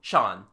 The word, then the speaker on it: Jean: he goes to AA the local pronunciation turns jean into Shan he is called Shan matu our man